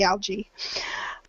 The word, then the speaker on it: algae: Thank You Suresh so algae and I know it has the two vowel sounds but they're pronounced together and we just say algae um let's see oh